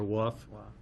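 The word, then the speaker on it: Waugh: His last name is spelled W-A-U-G-H, so as we know from a Dr. Seuss book, there's multiple ways to pronounce that, so it's either wah or wuff. Wah. Wah? Wah, thank you.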